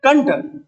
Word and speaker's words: कंठ: लगाई, कंठ है ना, अब हम इसको बोल क्या रहे हैं, कंठ। तो दोस्तों आप मुझे बताओ बिंदी किसकी है, कंठ, न बोल रहे ना, ये बिंदी न की